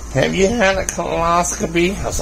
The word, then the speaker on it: colonoscopy: The doctor was saying, "Have you had a colonoscopy?" I was like, "Uh-oh." Not coloscopy. A colonoscopy. Same thing, colonoscopy. It's not coloscopy. It's colon.